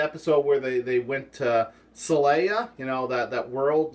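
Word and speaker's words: Xelaya: copyright issues because they they spell Celaya with an X so it should be zelaya Zelaya but they still pronounce it Celaya the species are still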